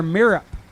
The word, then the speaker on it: Mirup: Tyler Mirup in the right. Dial 474. spelled like syrup but with an M.